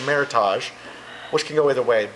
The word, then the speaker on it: Meritage: and so the com combined name was Meritage which is a very American pronunciation A lot of people see it now and think it looks French the say Meritage so it kind of goes both ways well earlier now you